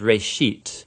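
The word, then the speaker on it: בראשית: of it's called Genesis Genesis comes from a Hebrew word it's pronounced race sheet and it just means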